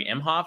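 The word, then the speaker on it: Emhoff: uh first uh gentleman Doug mhof is how you pronounce his name um he talked about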